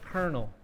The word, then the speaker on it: colonel: thought that they said Colonel okay so there's a history with this word it's a military word the spelling is from Italian but the pronunciation is kind of French okay so that's why